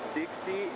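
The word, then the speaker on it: 的士: taxi is pronounced pronounced Dixie in Cantonese.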